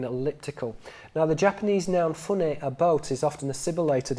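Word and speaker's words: ふね: So in spoken Japanese, fune can be pronounced as hune, and hune is a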